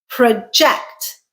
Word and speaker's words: project: Project. Project. Second syllable stressed is a verb, and it means to estimate or forecast or predict something.